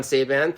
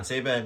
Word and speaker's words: Czeban: So, why don't I introduce my guest, John Saban, pronounced like Ray-Ban. Absolutely. John Saban, you got it.